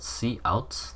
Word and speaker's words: cout: Hello world is printed in our console, and essentially what happens is it's called cout, that's how you pronounce it.